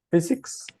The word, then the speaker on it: physics: Physics. This PH is like an F, like como una F.